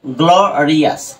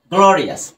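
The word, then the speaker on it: glorious: সো দেখো এই যে এখানে আমি যদি এটাকে যদি উচ্চারণ করি গ্লোরিয়াস, রাইট? গ্লোরিয়াস। এখন দেখো এই যে ও ইউএস এটা কিন্তু উচ্চারণটা কি হয়েছে, আস হয়েছে, রাইট?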